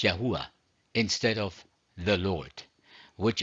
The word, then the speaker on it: YHVH: using the English letters yhvh or the Hebrew letters yote Buffy pronounced as yahuwah instead of the Lord